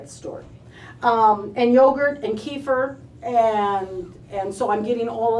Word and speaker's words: kefir: And I've always called it kefir, and I'm always told I'm wrong. It's kefir. Kefir.